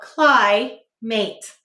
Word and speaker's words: climate: cold climate say climate how many syllables two we will say to spell cly mate what will we say to spell cly mate let's sound it out the first syllable is clay using if i eat mate um eight silent finally go